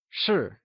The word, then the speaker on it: 是: 是 is pronounced using a falling tone, or the fourth tone.